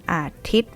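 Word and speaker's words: อาทิตย์: And then canceling sign on top. Yeah, Ga Ran. So, we don't pronounce Yo Yak here. One Athit.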